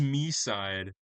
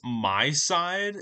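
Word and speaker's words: MiSide: Next is next is me side, which I actually learned was pronounced my side and I was pronouncing it wrong the entire time.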